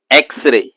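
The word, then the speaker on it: X-ray: दी एक्सरे, alphabet भले ही एक्स है लेकिन ध्वनि ए की निकल रही, इसीलिए दी एक्सरे।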